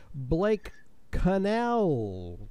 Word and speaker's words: Connell: Citrix smart tools with our special guest today Blake Cannell then I get it right this time Blake